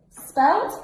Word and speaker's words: spelt: Spelt, it sounds like, so in English we spell it with a T.